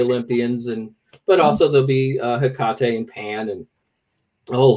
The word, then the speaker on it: Hecate: My life is Ray, So I noticed that you pronounced it Hecate. Any other variations you want to throw out there? I don't really care how people say it. They can say Hecate or Hecate.